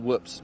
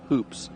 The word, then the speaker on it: hoops: Hoops or whoops? Yeah. No, not whoops, but hoops. Hoops. Yeah, I always say it wrong, but hoops.